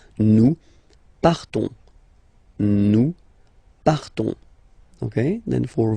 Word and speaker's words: nous partons: So classic ending ONS, you don't pronounce the S, you just have this on sound nasal. Nous partons.